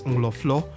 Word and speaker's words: Nkrofo: From Axim in the Western region, 5 kilometers from the coastal highway from Isiam Town Junction, we arrived at Nkrofo, which natives pronounce as Ngloflo, meaning crowd.